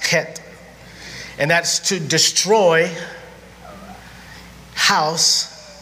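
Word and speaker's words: חית: Sheen, bet, and it says chet, but it's pronounced het.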